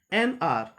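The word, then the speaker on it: an hour: और silent H, when h is silent, जब h silent है, first letter is not pronunciated as we find in case of r. n r, hour नहीं बोलते हैं, n r.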